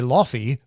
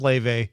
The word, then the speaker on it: Laufey: And by the way, reminder, that's how you pronounce that. Laufey. So you've like probably seen this word go by. You've probably heard me say Lofty. Right. Multiple times. I would have said Luffy every single time.